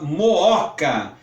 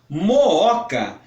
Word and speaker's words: Mooca: clássico de hiato porque os dois os ou dois ossos precisam ser pronunciados como na palavra Mooca é um bairro daqui de São Paulo Mooca tem dois ovos os